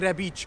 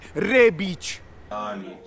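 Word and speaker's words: Rebić: It's Ante Rebic, not Ante Rebic.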